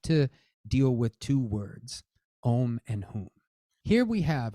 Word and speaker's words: Oṃ: to pay attention to om and whom om is a sacred syllable you're probably familiar with that it's in Buddhist context it's typically printed as an O and that is how it's pronounced uh I think in